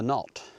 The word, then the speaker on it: Knott: So, the path we're on now is going to take us up to the knot. That's spelled K N O T T like your laces.